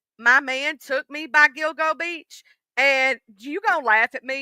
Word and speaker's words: Gilgo: Um I called it the Gigolo Beach for some reason, and then I was like, oh, it's Gilgo.